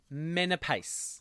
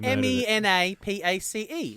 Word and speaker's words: Menapace: want to be very very careful pronouncing this last name it's Nicholas Menapace now you've murdered butchered it absolutely me na P AC e Menapace men are PACA pace Menapace I just didn't that's